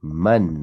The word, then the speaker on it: من: Man hadha al-waladu, not min, man hadha al-waladu.